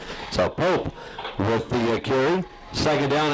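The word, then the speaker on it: Popp: Actually, from what I understand, just heard the PA guy is actually pronounced Pope, even though it's spelled P-O-P-P. So we'll go with that pronunciation. So Pope with the carry.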